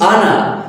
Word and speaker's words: honor: For example, when we say honor, so it is not honor, it is honor because here it start from O sound.